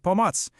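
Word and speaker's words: pomoc: It's bots. You say it like pomatz.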